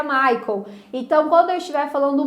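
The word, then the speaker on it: Michael: Português traduzido é Miguel só que em inglês no idioma original que eu tô sendo assista se pronuncia Maicon então quando eu estiver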